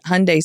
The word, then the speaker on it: Hyundai: um but we always we would always say say Hyundai like Sunday and but it was